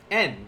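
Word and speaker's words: 円: En, we talked about en. This is how they pronounce yen in Japanese when referring to money.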